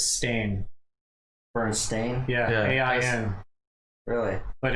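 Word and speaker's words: Berenstain: Yeah, it was never Steen. Apparently, it was Stain.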